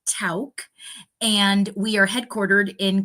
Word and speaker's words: Tauck: So that is the family's name, and it is pronounced Tauck.